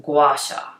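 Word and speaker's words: gua sha: g-u-a-s-a and google what this was and it's pronounced guasha this is the practicing of using a tool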